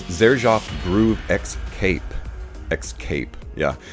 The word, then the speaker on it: Xcape: And it's Xerjoff Groove Xcape. Xcape, yeah. Kind of a funny use of the word escape, which is spelled E-S-C-A-P-E. What they're doing is putting a big X and then C-A-P-E, like Xcape.